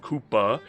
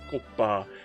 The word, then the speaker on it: Kouppas: Before we begin, I'd like to actually announce to people that this is not pronounced Koopa. It's pronounced Kopa.